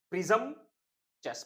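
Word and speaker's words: presumptuous: प्रिजम्पचस, प्रिजम, देखिए प्रिजम, प्रिजम चेस, प्रिजम चेस, प्रिजम चेस, प्रिजम चेस, ये होता है इसका प्रोनाउंसिएशन ब्रिटिश।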